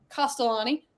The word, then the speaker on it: Castellani: Chris Castellani. Didn't get that wrong again. Yay! Right? I usually add an extra syllable in there to make it more Italian.